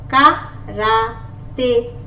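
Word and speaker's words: karaté: Example, K, karate, karate. Remember, this E is pronounced as, this is accent aigu. Accent aigu, when is there on top of the letter E, it is pronounced as letter A.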